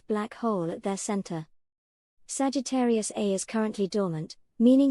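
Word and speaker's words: Sagittarius A*: At the heart of the Milky Way lies Sagittarius A, pronounced A-star, a supermassive black hole with over 4 million times the mass of our Sun.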